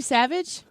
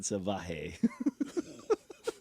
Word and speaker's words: Savage: You mispronounced Savage. Oh, Randy Savage. Yeah, he said Savah.